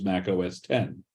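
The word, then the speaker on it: Mac OS X: approximately 2001 that was released as Mac OS 10 with an X after it instead but pronounced as Mac OS 10.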